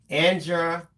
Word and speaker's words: Andrzejewski: Okay, Aunt Brenda says it is pronounced Andrzejewski. Andrzejewski.